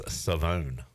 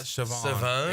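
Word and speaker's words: Shavon: Uh Siobhan Revel East Carolina corner has told us all that we've been saying his name wrong. It's Savone. Really? It's not Siobhan. It is Savone.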